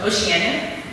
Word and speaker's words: Oceania: That's why it's pronounced Oceania, and I'll show you in a minute what it looks like in spelling, Oceania.